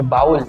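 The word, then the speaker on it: bowl: Pronunciation याद रखिए बाउल। ठीक है? तो बाउल मतलब बी ओ डब्ल्यू एल।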